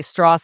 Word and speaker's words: Strauss: I say Strauss, and you said, "No, it's Strauss." No, or is it Strauss and then Strauss?